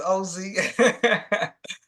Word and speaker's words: Ozie: Also for the record, it's Ozie.